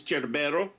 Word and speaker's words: Cerbero: Yeah, the Italian here is Cerbero. So it is a CH.